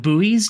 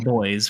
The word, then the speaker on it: buoy: straight on past the now in the US they're called buoys but in the UK we just call them boys we just pronounce them boys so yeah I call